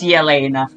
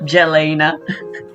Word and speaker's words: Yena: pronounced her name correctly I knew it was yena not Jalena or Jalena with such a grand